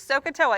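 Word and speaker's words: SOH CAH TOA: So it is Sohcahtoa, and you got to spell it right to use it right.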